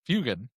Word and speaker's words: Fuegan: Fugine, if you will. Yeah. Fugine. Did you Um, just call him Fugine? I call him Fugine often. Not Um, the most mispronounced way of saying Fugan.